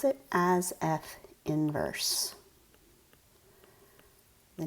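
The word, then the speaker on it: f⁻¹: That's what it looks like, is a little -1 as an exponent, but you pronounce it as f inverse.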